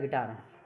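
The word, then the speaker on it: guitar: जैसे vowel AEIOU, यानी कि GUILE गाइल, यानी कि यू साइलेंट कब है, इसमें वोवल है, यू है। GUITR गिटार, गिटार में भी अपना क्या है, यू वोवल है, ठीक है।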